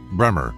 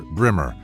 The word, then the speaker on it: Braemore: It is remote from the villages, but is best approached from Braemore, pronounced Bremer or Brimmer, which is on the main road from Fordingbridge to Salisbury.